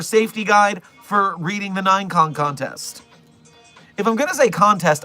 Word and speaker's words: Ninecon: But if I'm only going to say it for short, I should say Ninecon. So, it's either the 9K contest or Ninecon. This is a site 42 correct pronunciation that no one else can argue with me about because I'm the site director.